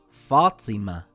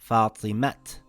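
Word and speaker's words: فاطمة: and not shajarat or this word reads fatima and not fatimat.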